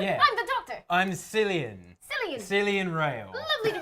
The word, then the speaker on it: Cillian: I'm Cillian. Cillian. Cillian Rail. Lovely to meet you, Cillian. Yeah. Likewise. How do you spell that? You're like Cillian Murphy. Mm-hmm. It's actually Killian, but I'm What's the last name though?